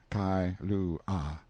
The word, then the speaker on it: Kailua: We landed at Kailua, pronounced Kai-lu-ah, a little collection of native grass houses reposing under tall cocoanut trees, the sleepiest, quietest, Sundayest-looking place you can imagine.